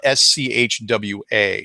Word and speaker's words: Schwa: And it's spelled S-C-H-W-A, Schwa.